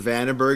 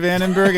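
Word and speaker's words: Vandenberg: really smell with Mr vandenbberg and he actually pronounces it venor and Nick toured with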